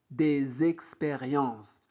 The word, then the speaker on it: des expériences: aigu et des expérience N'oubliez pas la liaison des expériences.